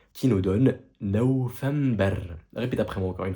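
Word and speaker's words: نوفمبر: C'est juste que là, encore une fois, on ne met pas le V parce que le V, c'est une lettre qui n'est pas officielle dans l'alphabet arabe.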